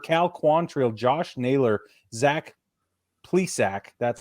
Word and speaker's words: Plesac: We've got Ed Rosario, Shane Bieber, Cal Quantrill, Josh Naylor, Zach Plesac.